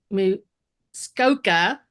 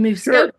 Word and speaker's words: Muskoka: Andrew is a fine art landscape photographer based in Muskoka. Did I say it right? In Muskoka, Sure.